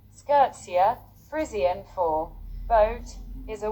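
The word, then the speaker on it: skûtsje: main Mast is down Wikipedia States a SC pronunciation skirtsa frisan for boat is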